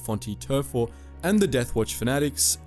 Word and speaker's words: Vhonte Tervho: Davin, the huntresses Rav Bralor and Vhonte Tervho [pronounced Fon-tee Ter-foh], and the Death Watch fanatics Dred Priest and Isabet Reau.